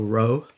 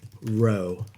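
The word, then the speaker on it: rho: And that would be uh so it's spelled R H O. So, row. And just so you can remember later on, it's pronounced row.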